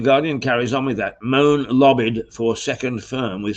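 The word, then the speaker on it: Mone: uh but it's it it seems that it is pronounced moan and she is uh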